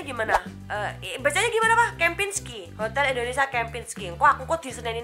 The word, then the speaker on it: Kempinski: Itu bacanya gimana? Kempinski.